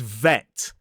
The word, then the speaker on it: vet: Remember to look at my teeth. If if the teeth are involved, it's a vv sound. Or if the lips are closing, it's a B sound.